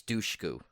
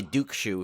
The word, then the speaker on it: Dushku: pronounce her name right I think it's Dushku I used to say Duke Shu for some reason I had it backwards I made her sound